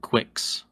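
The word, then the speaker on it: Qwixx: Go ahead and spell it for our listeners. Oh, yeah. It is Q-W-I-X-X. Nice. So that's, yeah, Quix.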